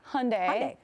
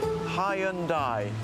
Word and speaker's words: Hyundai: anyway it turns out a lot of people have been saying it wrong and the company launched an ad telling people to get it right take a look search Hyundai you have arrived